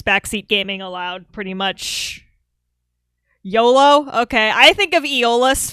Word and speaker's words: Iolo: The problem is, now that I know it's pronounced YOLO, I can't say that with a straight face, y'all.